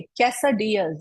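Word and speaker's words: quesadillas: it then we have केस Diaz please से कैस डियर्स these are कैस डियर्स इसमें एल भी silent है right तो कैस डियर्स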